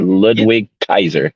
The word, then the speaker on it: Ludwig Kaiser: Kaiser is that that's how you say it Ludwig Kaiser that's it yeah um they killed it they